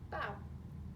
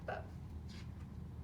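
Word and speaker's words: bao: So, bow like bow, not like bow. So it's bow's a Chinese word, so you have to pronounce it correctly.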